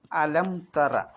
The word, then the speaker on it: ألم تر: അദുബില്ലാഹി മിനശൈത്താനി റജീം അലംതറ അവിടെ എന്താ ചെയ്യേണ്ടത് അലംതറ ആ നിർബന്ധമായിട്ടും ഉച്ചരിക്കണം പിന്നെ ലം എന്നുള്ള മീമിനെ എന്ത് ചെയ്യണം ഇളഹാർ ആക്കിയാൽ മതി വെളിവാക്കിയാൽ മതി വേറെ ഒന്നും ചെയ്യാൻ പോകണ്ട പിന്നെ യാ അല്ല യു